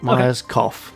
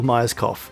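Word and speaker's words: Gail Myerscough: code now uh gail g a i l myers co m y e r s c o u g h but that's not miners cough because that would be the incorrect way to say her name but a good way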